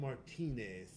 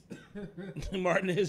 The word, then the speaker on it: Martinez: It's spelled Martinez. Martinez, Georgia. Yeah. We taking the Spanish out of that.